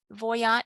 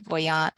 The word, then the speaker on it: Voyant: we'll get started with voyant tools or voyan I think the Creator is pronouncing voyant so I'll pronounce it voyant for them so I'll put a